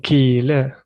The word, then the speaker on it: kille: So you're on the I. You're stressing. I'm dragging. Yeah. I don't say stress. I call it dragging.